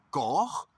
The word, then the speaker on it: cough: dice toser en inglés se dice cog no se pronuncia esa gh como si fuera una F vamos a practicarlo estoy